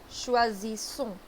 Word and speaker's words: choisissons: Choisissons. Okay. Oui, vous choisissez. And no, ENT we don't pronounce.